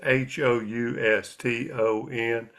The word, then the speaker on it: Houston: know, Cairo is spelled Cairo, and Houston is Houston, and it's a regional pronunciation, and don't you dare get it wrong.